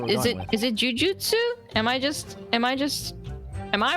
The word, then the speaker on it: jujutsu: Oh, so it can be pronounced as jujitsu. It's just, Ah. yeah, it says jujutsu or jiu-jitsu or jujitsu.